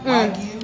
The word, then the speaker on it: Wagyu: How do you pronounce this, Sam? Wagyu.